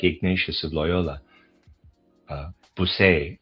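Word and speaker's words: Bossuet: Ignatius of Lyola uh Busay uh his name is pronounced B O S u t sorry buset maybe.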